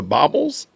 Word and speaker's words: bauble: Those are baubles? Y'all are wild. So y'all refuse to pronounce it correctly? Baubles? So they're not bangles, they're baubles.